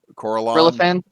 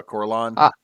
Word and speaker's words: Corellon: it is instead uh make sure i'm pronouncing it right so instead of coraline instead of uh corellon the creator god being